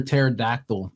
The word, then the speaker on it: pterodactyl: one I got one why can't you hear a pterodactyl in the bathroom because the p is silent nah yeah okay okay